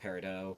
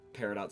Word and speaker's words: Peridot: And yes, I know that generally it's pronounced Peridot, but as far as the show, it's pronounced Peridot. Also, it can be both Peridot and Peridot. Both pronunciations are considered correct.